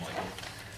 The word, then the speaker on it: Mikel: said this is the story of my son Michael it is sped MK but it is pronounced Michael and how he came into my life and